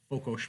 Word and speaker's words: Fokos: I'm hoping I pronounced Fokos properly. Hussar, yeah. No, Fokos, yes. The Okay. Hungarians pronounce S like sugar, so Sugar.